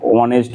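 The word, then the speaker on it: honest: করতে হবে কি বলছে এখানে অনেস্ট বয় এখানে ও এখানে এই দিয়ে শুরু হলেও কিন্তু উচ্চারণটা কিন্তু ভালো সাউন্ড আসছে ওজন্য এখানে এন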